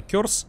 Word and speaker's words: Curse: еще и средней школы я знаю что вроде как правильно кёрз произносится но пишет пишут уже